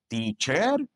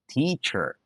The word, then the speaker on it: teacher: Do you say doctor, teacher, today? If you say that, you're making a mistake. Say doctor, teacher, today. If you said it the wrong way, don't worry. This is a very common mistake that English learners do. The good news, there's one tiny sound that if you learn it, you can fix this problem. It's called the schwa.